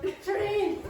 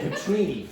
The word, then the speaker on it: Petrini: It's not Patrini. I didn't say Patrine. I said Petrini.